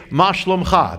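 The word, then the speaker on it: מה שלומך: you know how you say that? You say, "Ma shlomcha." That's how you say it in Israel.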